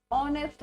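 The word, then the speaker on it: honest: सो is that clear आपका sound यहां पे ऑनेस्ट आ रहा है ऑनेस्ट नहीं आ रहा है एच इज़ साइलेंट तो जब आपका साउंड जो है ध्वनि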